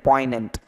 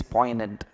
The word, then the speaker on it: poignant: is called as poignant G is actually silent here g is silent poignant okay not poison and it is poignant poignant what am I